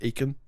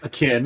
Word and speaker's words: akin: Do you think that word is pronounced Aiken? I'm assuming now it's not. It's akin. Akin.